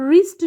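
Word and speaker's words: wrist: है वो साइलेंट है अब रिस्ट जो है इसमें आर की साउंड आ रही है डब्लू की नहीं आती रिस्ट कलाई को कहते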